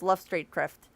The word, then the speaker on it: Luftstreitkräfte: And yes, it was absolutely pronounced Luftstreitkräfte, where I'm from.